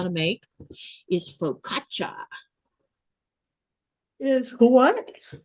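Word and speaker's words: focaccia: You might hear people call it faucia. That's not how you say it. It's faukatcha.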